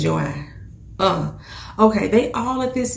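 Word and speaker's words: Joi: And her daughter, who I said her name was Joy, because it's spelled J-O-I. She keep calling her Joy. So I guess the little girl name is Joy.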